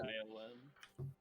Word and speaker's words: Scion: Scions? What? Or S-C-I-O-N. S-C-I-O-N. Is that pronounced Scion or Scion? I would say Scion.